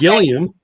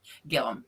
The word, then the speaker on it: Gillum: Gilliam because, Jesse calls his name wrong and he gets a hat and a shirt. I say it right, and I ain't got nothing yet. Just say So- it. Just saying. No, it's Gillum. Gillum.